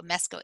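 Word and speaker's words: Meskó: Tilland, I think is how you say it, Alan, Mesko, not Musco, Mesko, Mesko.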